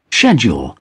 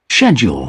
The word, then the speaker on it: schedule: UK ini berarti apa namanya British English ya schedule nah schedule ya biasanya disebutnya schedule schedule schedule schedule oke nah kalau American English schedule nah schedule schedule jadi Eh kalian enggak usah berdebat ini bacanya schedule ini bacanya schedule dua-duanya betul hanya saja Eh kita mau bermuaranya ke mana kita mau berpegangnya ke mana British English atau American English nah eh sebelumnya mohon